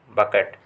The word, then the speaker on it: bouquet: तो आप लोगों के सिंपल सा है, बताइए बकेट होता है वैसे, बकेट। आपको स्पेलिंग सुना दे रहा है BOUQUET, बकेट।